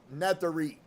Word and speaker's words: Nazareth: His pronunciation of the word Nazareth was so different that I did not recognize it until I later played the tape recording back and listened to it carefully, and it sounded like Nathari, spoken quickly.